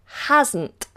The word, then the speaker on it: hasn't: similar to hadn't is hasn't hasn't it means has not has not so hasn't hasn't s becomes as ed has hasn't hasn't she has not she